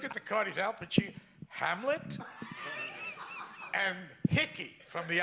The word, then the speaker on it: Pacino: all, he said, Al Pacino. He pronounced my name right. That never happened. I went to a whole school, a public school. They never, Pacini, Pacuno, Pacani, that kind of thing.